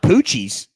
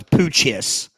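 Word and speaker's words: Poo-Chis: It's pronounced poochies. Poochies. Poochies. Poochies. I don't remember Poochies. Poochie. When I first looked at it, I thought it was poochis.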